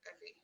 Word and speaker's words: Evie: Is your name Evie or Effie? No, tell me what you prefer. well, it's actually Evie, Evie.